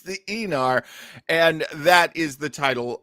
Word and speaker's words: Aenar: I know how to pronounce Aenar. Yeah. Like e-cigarette or e-bike. Like Eon Flux. It's the Aenar, and that is the title of tonight's episode.